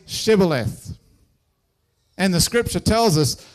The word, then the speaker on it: shibboleth: of Gilead would say, "All right then, say Shibboleth." And the scripture tells us that the people of Gilead couldn't say Shibboleth. They pronounced it Sibboleth.